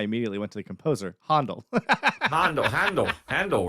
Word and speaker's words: Handel: We've talked a little bit about how different people have different handles. So Um, we were just talking about classical music, and I immediately went to the composer, Handel.